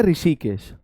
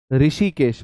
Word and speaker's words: ऋषिकेश: ऋषि और यह पढ़ो इसका उच्चारण क्या कर रहे हो आप ऋ इसे आप पढ़ रहे हो री यह पढ़ा जा रहा है तो इसका जो साउंड आता है वह आता है री री क्या इसे पढ़ ना री